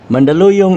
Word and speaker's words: Mandaluyong: should be mandaluyong ethymologically spanish writers found it difficult to pronounce the word hence they hispanize it into mandaluyon with n even the huerta and perez both franciscan missionaries refer it as mandaluyon without g missionaries and travelers gave